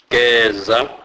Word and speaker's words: geza: E is pronounced as a, as in a word wet. Examples: geza, geza, which means wash.